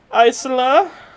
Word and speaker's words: Aiselar: "Hello, my name is Isla, and I am this town's leader." That is spelled Aiselar, if anyone cares. Just restart it. Oh, I do. Now, Isolar is clearly much, much